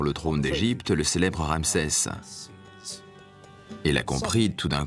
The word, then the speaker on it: Ra: soleil et Champolion sccopte il se prononce RA en bas une lettre